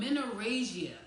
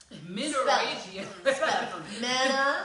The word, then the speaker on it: menorrhagia: So I looked it up, and there is a term called menorrhagia. How you spell that? Menorrhagia. Menorrhagia. Menorrhagia. That's 5 syllables.